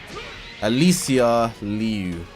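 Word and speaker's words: Alysa Liu: I think I need I don't think I'm saying her name right. Alissa Alicia Liu That's it. That's how you say it.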